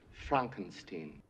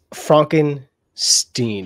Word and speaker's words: Frankenstein: It's pronounced Frankenstein. Is that right? Aren't you the grandson of the famous Dr. Victor Frankenstein, who went into graveyards, dug up freshly buried corpses? It's Frankenstein.